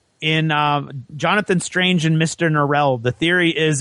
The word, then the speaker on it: Norrell: He pronounces it Norrell. Right. And everybody thinks that that's so low class that they're like, Mr. Norrell. And he's like, it's Norrell, actually.